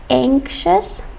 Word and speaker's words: anxious: lot of spanish speakers have a problem of pronouncing this word it's anxious from the word anxiety so anxious people are